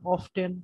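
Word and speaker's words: often: আমি ছোটবেলায় শিখে আসছি অফেন উচ্চারণ করতে হবে, কখনো অফটেন উচ্চারণ করা যাবে না, এটা ভুল হবে। এই কারণে বাসায় আমি বাবার কাছে মায়েরও খাইছি অফটেন উচ্চারণ করার কারণে। এখন বড় হয়ে শুনলাম অফটেন প্রপার উচ্চারণ।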